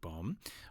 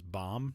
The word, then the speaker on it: Bohm: Uh but the month after we got a chance to talk with Alec Bomb uh who by the way was listed in the USA baseball pronunciation guide at that time as Bomb not Bomb.